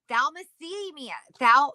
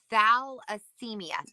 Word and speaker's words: thalassemia: Thalassemia. How do you say that? Thalassemia.